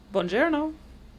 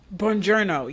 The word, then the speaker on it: Buongiorno: It's very similar to bonjour. Buongiorno. Buongiorno, yes.